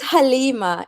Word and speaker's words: Halima: it's kind of cute the way Caribbean people call my name but it's Halima it's it's Halima yes um hi Opera